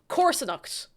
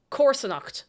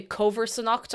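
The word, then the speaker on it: comharsanacht: Corsonacht. Corsonacht.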